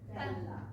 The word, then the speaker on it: Bella: Pronunciation point on Bella. It's Bella. Bella. So when you sustain a word, you sustain the vowel. And I know that when we speak Italian, we love to savor those consonants, but when we sing, we're going to open up that vowel.